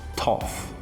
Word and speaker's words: tough: Já essa terceira palavra, a pronúncia vai ser tough.